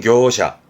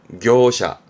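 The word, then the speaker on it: 業者: 발음은 교샤, 교샤.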